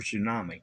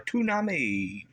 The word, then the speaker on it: tsunami: uh Timothy Dixon he he has two words for tsunami he can't pronounce tsunami he says aami aumi or a tunami he can't even speak